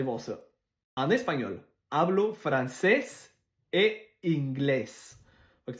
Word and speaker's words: francés: En espagnol, hablo francés et inglés. Fait que si tu vois ce que l'accent, c'est là qu'il faut que tu fasses l'intonation. Deuxième syllabe. Francés, inglés.